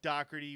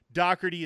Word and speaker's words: Doherty: First of all, anybody who listens to this show knows that Doherty is not spelled as it is pronounced.